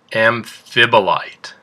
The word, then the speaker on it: amphibolite: that shine glassy and our next rock is pronounced amphibolite do you know another word that has the same amphib in it that's right amphibian amphibian so what kind of